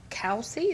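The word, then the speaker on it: Covesea: Because the name is spelt Covesy, but you say it's pronounced Kelsey, is that right?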